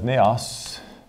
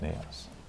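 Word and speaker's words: ναός: All right, the first one is, it's actually Hieron, which is English, is pronounced like that, Hieron. The other one is Naos, which is just simply, I guess like that, Naos.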